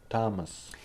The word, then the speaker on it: Thomas: spelled with a th they are pronounced as if they were spelled with a normal T like that and these